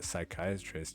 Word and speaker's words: psychiatrist: can't you hear a psychiatrist using the bathroom the p is silent oh that's a good